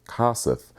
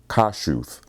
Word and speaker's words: Kossuth: kossuth street was pronounced kossuth but someone informed me that the name is Eastern European and it's actually pronounced kashuth you learn something new